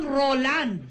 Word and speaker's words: Roland: Kayo po si Roldan Jimenez Pineda? Roland Jimenez Pineda. Nagkamali lang po ako ng bigkas na... Pero paglilinaw niya, hindi raw siya si Mang Roldan, kundi si Mang Roland.